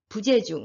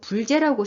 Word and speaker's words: 부재: 미 우리 탈락하고 거든요 그래서 불 죄라고 있지 않고 부재 라고 읽어야 됩니다 여기 부족도 마찬가지에요 아닐